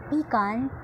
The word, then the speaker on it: pecan: p-e-c-a-n and for me i pronounce it p-con because i often recall pecan pie so that's how i